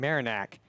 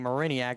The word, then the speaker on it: Mariniak: or marinyak excuse me gotta get used to saying marinack as I've been saying mariniak as that had a better flow but that's not the correct way to say it bouncing ball towards short